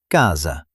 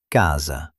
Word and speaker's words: casa: Sometimes S between vowels sounds like j, like the sound in measure. For example, casa, casa.